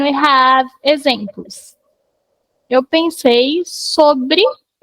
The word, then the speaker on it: sob: The pronunciation is sob. Sob. Like sobre, mas sob. Stops in the B.